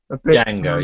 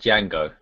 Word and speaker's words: Django: I'm saying that right ajango yeah Django yeah not Django it's just Jango yeah bit Tarantino and